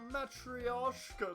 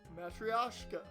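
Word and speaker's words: matryoshka: trying to open all the layers of a matriarch doll one more time matriashka that never would have never would have said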